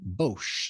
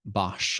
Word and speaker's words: Bosch: It's being developed in Bosch. It's a Bosch, I guess Bosch or Bosch. I'd say Bosch, but I think that in German it's Bosch.